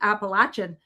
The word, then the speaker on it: Appalachia: And they said when I went to those regions, they said, "And if you don't pronounce it per properly, Appalachin, they'll throw an apple at you."